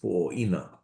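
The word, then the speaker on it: Puʻowaina: And similarly, there's a whole thing about Pu'owaina in there in the Theodore Kelsey collection, where I believe somewhere I've seen it, and one version of it is Pu'oina, which could just be a shortened pronunciation.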